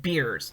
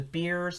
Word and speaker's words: Beers: She said beers, and that's spelled B-I-E-R-S, and that is a kind of forceps.